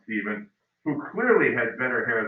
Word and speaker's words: Stephen: The next year, his son Stephen, remember that PH that's still pronounced Stephen, who clearly had better hair than his dad.